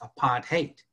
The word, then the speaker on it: apartheid: chat you know that it really is how it's pronounced apart hate keep people apart uh teach them to